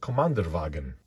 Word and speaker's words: Kommandeurwagen: I believe it's pronounced Kommandeurwagen.